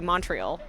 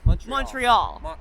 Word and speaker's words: Montreal: Montreal. Yes. If you really want to press them, it's Montreal. What? Montreal. Montreal? Montreal. Montreal. Montreal. That's how they say it.